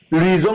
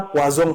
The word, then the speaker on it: Luison: Luison et Somba, il faut bien prononcer son nom, c'est pas Poison, c'est Luison.